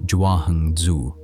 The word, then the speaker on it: Zhuangzi: His name, the way we spell it now in English, is Jangzi, pronounced roughly Jahung Zu.